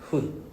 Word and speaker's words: 分: Pronounced as hun. Remember, F is not F sound, it's H sound.